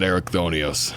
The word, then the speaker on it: Erichthonios: Well, to be fair, though, there is voice acting in Pandemonium. They said Erichthonios. Hephaistos pronounces it Erichthonios, so we'll assume he's correct.